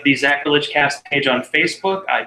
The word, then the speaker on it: Zachrilege: I know I say it's sacrilege with a Z, but there actually is an H in there. Lovely. So like the Zachrilege cast page on Facebook,